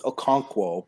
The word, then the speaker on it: Okonkwo: to like read English which you can't it's Okonkwo but okay that's what I said probably not even pronounced rewind the tape rewind the TV you